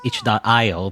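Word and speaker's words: itch.io: know sometimes developers on ichi or whatever and which i always pronounce wrong by the way i always say ichio really is itch dot io but i like ichio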